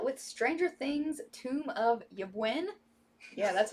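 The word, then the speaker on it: Ybwen: this one out with stranger things tomb of yebuin yeah that's how you pronounce that this is going to be in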